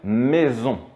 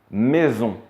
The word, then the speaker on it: maison: Le son Z comme un Z, finalement, on va le retrouver quand le S va se placer entre deux voyelles. Par exemple, une maison.